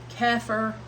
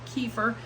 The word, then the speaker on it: kefir: form of fermentation clabber keer or as some call it kefir I will never get used to saying it so I'll just continue to say it wrong and call it keer um that's a like